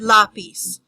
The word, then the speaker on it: lápiz: So for each word, for example, the word lápiz, you have to separate it into syllables. Lápiz. There are 2 syllables in that word. The stress in that word falls on the first word, lápiz.